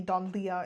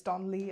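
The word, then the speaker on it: Donlea: It's not Charlie, Don Leia. It's Don Lee. I finally I don't know why I mispronounced it that way. So, if you were offended in the beginning, I am so sorry. I am so sorry. I didn't mean to pronounce someone's name incorrectly. It just didn't click in my head that L E A is Lee.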